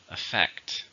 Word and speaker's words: affect: Stress in the second. Affect.